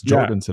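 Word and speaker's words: Jorgenson: Yeah, we've been saying his name wrong for like 5 months. Jorgensen apparently is what it is.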